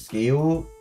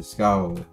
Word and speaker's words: Scowl: Well, I used to pronounce it as Scale. But then I learned it's not the case, that I heard several people run to Scowl.